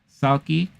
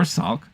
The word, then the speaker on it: Psaki: Psaki, or Salk, depending on how you want to pronounce it, calls the series epic,